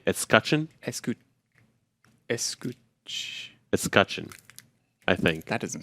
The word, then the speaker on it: escutcheon: Escutcheon? Escutcheon, I think. That doesn't sound right. Somebody's going to correct me in the comments. I remember, rhymes with discussion. Escutcheon.